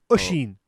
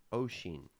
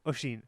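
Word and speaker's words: Oisín: And it will sound nothing like you think it's pronounced. Oisen. Ushin. Oshin. Ushin. Oh, there's no SH. Say it again. Oshin. Ushin. Oshin. Ushin. Oshin. Yeah, Ushin.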